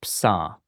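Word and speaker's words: ψ: Just ka ka fa psa. This one is like a ps pronounced really close together.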